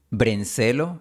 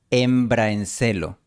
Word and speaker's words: hembra en celo: La vocal A fue omitida. Por eso parece que está diciendo brencelo. Celo. La pronunciación recomendada es embraencelo, con una transición suave de la A a la E.